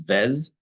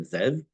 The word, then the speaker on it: Zev: peeve of mine that people say Evan asra it's that's that's that's as bad as saying my name is VZ instead of Zev it's it's not the